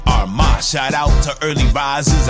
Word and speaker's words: Armah: to the morning announcement I'mma say my name so you can pronounce it B my NE AR my shout out to early